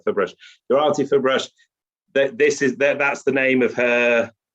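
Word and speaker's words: Ferbrache: That's right, Fairbrush.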